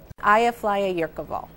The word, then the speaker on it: Eyjafjallajökull: While it spewed ashes, newscasters spewed a molten lava of syllables. Aya, flya, yakur, vol. Aya, flya, yurkaval.